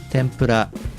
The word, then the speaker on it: tempura: longer than the others while japanese people pronounce all letters of it with the same length of time and the same pitch this tendency is called